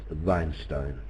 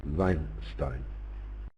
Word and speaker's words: Weinstein: Weinstein lives in Israel his now would be pronounced veinstein well that is a proper pronunciation of the